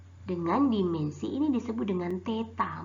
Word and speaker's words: theta: Nah, suhu satuannya adalah K atau singkatan dari Kelvin dengan dimensi ini disebut dengan theta. Bacanya nih yang si kecil mungil-mungil ini, aduh maaf, kecoret ya, itu disebut dengan theta.